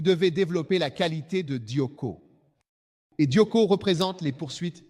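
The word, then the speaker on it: διώκω: Le suivant, Dioko. Dioko. Un Timothée, chapitre 6, le mot dioko s'écrit D-I-O-K-O, dioko.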